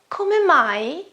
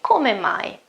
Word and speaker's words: come: Come mai, come mai. Come, again, pronunciation, okay? You have to pronounce the final E, come mai, okay?